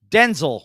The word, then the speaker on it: Denzel: Denzel Washington, or Denzel Washington, as he says it should be pronounced.